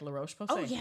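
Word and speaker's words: La Roche-Posay: the L Ro POS POS that's absolutely correct L Ro POS that is right um I'm not faithful to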